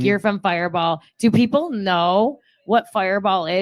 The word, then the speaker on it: Firebaugh: Fireball, even though it's spelled differently. It's Firebaugh. Firebaugh. Yeah.